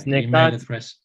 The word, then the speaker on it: Necati: So it's Nikati. I'm going to say it phonetically with a C.